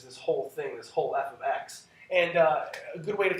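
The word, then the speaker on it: f(x): and what this basically how this is basically pronounced is f of x so it's it's whatever the variable on the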